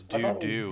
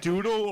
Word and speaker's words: doodle: Oh, I thought it was I thought it was doo-doo. doo-doo boy, like Like poop. Doodle. Is it doodle or doo-doo like poop? It's doodle. Like I'm doodling.